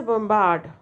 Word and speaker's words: bombard: Sound is produced pronounce or B in bomb but bombard so that's a bombard right so that's a not bom bombard it's not B sound okay now discussion what